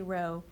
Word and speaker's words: rho: That's really rho. R-H-O is how it's spelled in Greek, but who cares? Rho is, P is 0.75.